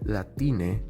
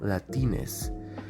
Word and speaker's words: Latine: for spanish speakers but notice how he said latine and not latines this term only makes